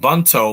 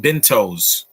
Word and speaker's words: bento: you mean what is m bunto i don't know what that means you mean bentos why do people spell that wrong it's b-i-n-t-o it's like Bingo but with a t Bento and I've been bet